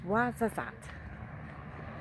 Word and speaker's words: Ouarzazate: So I finally found how to pronounce it. It's Ouarzazate.